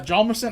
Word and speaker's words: Hjalmarsson: But yeah, Hjalmarsson, I would not be able to say. It's like, you're really going to say that? Yeah, how are you going to spell that? Well, obviously, the H is silent.